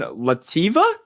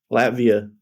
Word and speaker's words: Latvia: And now he's playing overseas in Lativa. Is that correct, Frankie? Latvia.